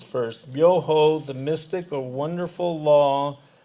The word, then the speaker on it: Myoho: Because I want to just go through the syllables first. Myoho, the mystic or wonderful law, the universal principle of life.